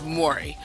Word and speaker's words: Mowry: To pronounce her name is Mowry.